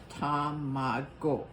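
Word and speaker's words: tamago: think do you know in japanese you say every single syllable tom mago like your name is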